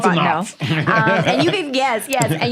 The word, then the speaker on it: Fontenot: Yeah, it looks like Fontenot, but it's pronounced Fontenot.